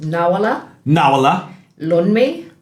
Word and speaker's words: Nawoola Loonmi: So it's pronounced Nawoola Loonmi.